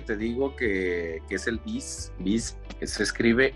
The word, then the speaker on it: Vizrt: O sea, de hecho, este software que te digo que es el Viz, que se escribe V-I-Z-R-T, VizRT.